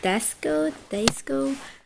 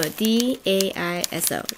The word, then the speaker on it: Daiso: Desco?